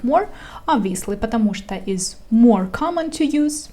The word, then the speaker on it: потому что: Pay attention to the pronunciation of this word because it has two words in it, but I pronounce it as one.